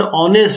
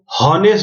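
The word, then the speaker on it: honest: यहां पर ऑनेस्ट में एच नहीं, हॉनेस्ट नहीं बोलते हैं इसको, ऑनेस्ट बोलते, तो ओ का साउंड आ रहा है। एच क्योंकि इसमें साइलेंट है, तो ये वॉवल है,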